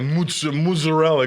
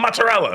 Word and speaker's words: mozzarella: So when they hear the Americans say things like Molignan, they're like, the fuck is that? It's not even a word. Yeah. Or they'll say mozzarella. It's fucking mozzarella. It's not fucking mozzarella.